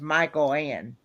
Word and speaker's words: Michael Ann: yeah, that's how you pronounce it. You pronounce it Michael Ann, Jeff. It's Michael Ann.